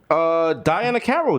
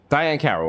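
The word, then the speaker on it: Diahann Carroll: Daiana Carroll died. That's not funny. That's for real. Who? Daiana Carroll. You know Daiana Carroll. Diane Carroll. I'm pronouncing it wrong.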